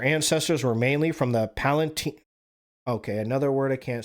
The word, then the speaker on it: Palatine: Germany's population was suffering, and many groups, including the Catholics and of Palatine origin, fled to find Palatine, like Emperor Palatine. Yeah, it's Palatine.